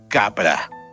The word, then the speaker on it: Capra: Fritjof Capra. Se escribe, su primer nombre se escribe Fritjof. Y bueno, el apellido es como el director de cine Frank Capra.